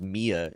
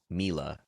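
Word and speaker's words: Milla: I always thought it was Mia Jovovich. Um so unless Luke Basson is saying it wrong in the little featurette from the movie, I I learned today I learned or yesterday or the day before I guess that it's Mila Jovovich.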